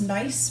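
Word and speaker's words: gneiss: in the rock nice it's pronounced nice but this is how you spell it all right uh nice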